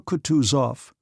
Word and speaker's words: Kutuzov: "General Kutuzov," said Bolkonsky, speaking French and stressing the last syllable of the general's name like a Frenchman, "has been pleased to take me as an aide-de-camp."